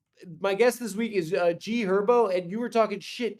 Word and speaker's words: G Herbo: It's also G Herbo. The H is silent, bro. What? The H is silent. It's G Herbo.